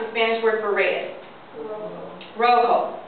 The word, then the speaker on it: rojo: Rojo. The J makes the H sound.